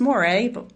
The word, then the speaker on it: Mo: My last name is is pronounced Mo.